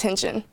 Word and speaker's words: Hinton: And if nothing else, at least now you know my extremely confusing last name is pronounced Hinton.